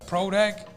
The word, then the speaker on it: Proda: you pronounce that so it's a pro deck you know what i mean it's like a producto but it started because